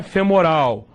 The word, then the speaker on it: femoral: Fêmur é interessante, porque tudo que se refere ao fêmur, a gente depois pronuncia com O. O fêmur é com U, mas a artéria femoral, o reto femoral, tudo isso é com O, tá?